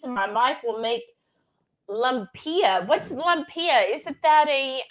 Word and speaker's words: lumpia: they lost her at tilapia yes Renee hates tilapia oh I said it wrong okay Charlotte said say lupiah Moon Pia is how you say it lumpia okay thank you Shawna